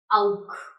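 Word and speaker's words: auch: When there is an AU together in a word, then this will sound like ow. Ow. Right? So there is an example here. Auk.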